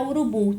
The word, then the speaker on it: urubu: Embora eu saiba que a sílaba tônica é a sílaba bu, embora eu saiba que esta é a minha sílaba tônica, eu não vou inserir